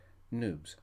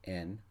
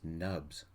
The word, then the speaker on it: Noobs: Noobs. It rhymes with tubes, as in Noobs. We are officially newbies. If somebody called us nubs, rhyming with cubs, somebody in navy blue crisps will probably break their nose.